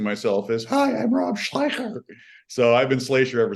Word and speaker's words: Schlyecher: But apparently, it's a German last name that moved to the Netherlands about 2 generations before I came along, and the German pronunciation and spelling is Schleicher. Schleicher. Oh. And then the Dutch have this crazy guttural language, so it's Schlyecher.